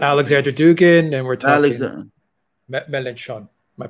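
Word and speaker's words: Mélenchon: Melanchon. Am I pronouncing that correctly?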